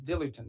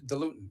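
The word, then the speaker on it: diluent: things they need is dilutin or dilutin depending how you want to pronounce it.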